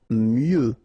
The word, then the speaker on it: mieux: Mieux. Final X not pronounced.